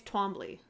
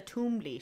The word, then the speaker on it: Twombly: No, she's Twombly. Oh, Cressida Toombly. She got married twice. Twombly. Right? I thought it was Toombly. Twombly. They pronounce it Toombly in the audiobook.